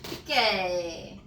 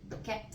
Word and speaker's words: Piquet: Piquet. I want to say Piquet. That's French.